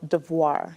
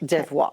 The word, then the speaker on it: Devoir: You say that company name with a French accent. Much better than me. So, you go for it. Tell us how you say it. Yeah. It's called Devoir. Devoir.